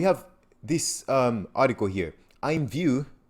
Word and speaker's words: IMVU: this um article here i'm view imvu it's pronounced as i'm view to integrate immutable x